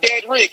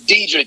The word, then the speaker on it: Deadrick: Not Deadrick, it's Deadrick. It's spelled like Deadrick. Deadrick.